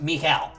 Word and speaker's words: Mikhail: I know his name is spelled Michael, but it is not pronounced that way. It's pronounced Mikhail. A very unique pronunciation.